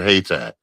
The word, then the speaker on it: Haiti: called North South Carolina called Haiti, but some of them pronounce it hay tai, but like I said, but we had black comm thriving black communities all over the place, man.